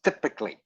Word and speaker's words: typically: word is typically not not typically it is typically this why is pronounced like an i okay and last hang